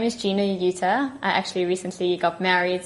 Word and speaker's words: Yuter: passions in life so my name is Gina UTA I actually recently got married so I'm actually